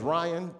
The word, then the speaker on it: Rion: i have to uh my name is ryan but it's spelled r-i-o-n and i take time to spell it because some people are stupid that's the main reason i i promise you because some people see it r-i-o-n and like that's not ryan that's rion like me and my mama i've